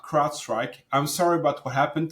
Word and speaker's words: CrowdStrike: that aren't in the security community call it CloudStrike, they're mispronouncing it, or they're calling it CrowdSec by accident. So CrowdStrike is the largest, behemoth of security platforms, and